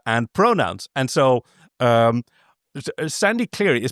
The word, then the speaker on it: Sandy Cleary: And so, um, Sandy clearly is pronounced like sand, something that is coarse and rough and irritating and gets everywhere.